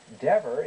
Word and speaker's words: Dever: former mayor William E deor is pronounced with a short e so that it rhymes with clever I know because I